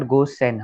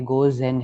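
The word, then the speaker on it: 午前: It it's not Gosen, हाँ Gozen है Z. Go okay हाँ मैं इधर ही भूल गया. Sorry. ये Gozen है Gozen.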